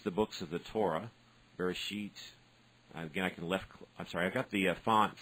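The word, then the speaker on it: בראשית: This is Bereshit. So I left click. It tells me here how to pronounce it. Bereshit.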